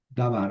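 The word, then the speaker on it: דָּבָר: O sea, davar. Aquí tengo el sustantivo davar. Tenemos una sílaba abierta, da, y una sílaba cerrada, var. Aquí cae el acento, davar.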